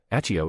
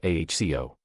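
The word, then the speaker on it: Accio: Aio is pronounced aho.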